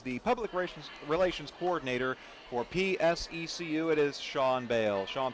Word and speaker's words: PSECU: I think the appropriate pronunciation would be PSECU.